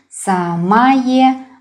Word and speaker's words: самое: Yeah, I pronounce интересное, самое, but we spell it with о.